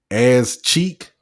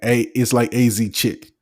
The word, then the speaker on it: AZ Chick: As Cheek, that wasn't his name. Oh yeah. It's like AZ Chick. It's not As Cheek.